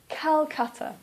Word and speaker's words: Calcutta: or for example calcutta please don't say kolkata please say calcutta the reason that we